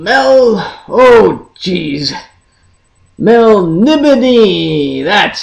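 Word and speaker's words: Melniboné: reading of el of M Mel oh jeez Mel nibon that's how you pronounce it Mel nion this illustration is from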